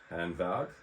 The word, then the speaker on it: Hanwag: I'm looking at today is the hand wag or it's a German accent hand valve um and um but